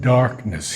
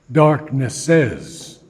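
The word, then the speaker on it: Darkness': we have the word Darkness here with an apostrophe after the S which tells us that we don't pronounce it as darknesses but simply Darkness a memory quivered in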